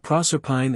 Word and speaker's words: Proserpine: But Proserpine and Thebes are exceptions and to be pronounced as English words.